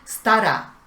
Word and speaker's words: stará: Stara. Stara significa vieja. El acento va en la primera sílaba, sta, pero la sílaba ra se prolonga. Stara.